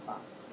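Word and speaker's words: Bas: And I normally go by that, but you can call me by my personal name, which is Boss. What's that? Boss. Boss. B-A-S. Like Boss Relief. Like a boss.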